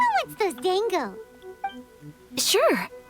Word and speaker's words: Dango: aaka P wants those Dango sure I always pronounced it Dongo is it Dango uhhuh those look good too